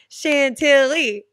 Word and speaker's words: Chantilly: apply chili chela clothes Chantilly Chantilly right right it's like four syllables how did that come